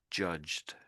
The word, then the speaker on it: judged: And the ed on the end makes it judged.